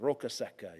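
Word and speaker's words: Roccasecca: called the dry rock it is a hard name sometimes to pronounce but you just have to maybe think think in that Italian accent rokaseka you know it's a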